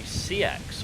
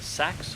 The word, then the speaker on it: Seax: And we have a Seax, or a Sax, or a Sex, depending on how you want to pronounce it.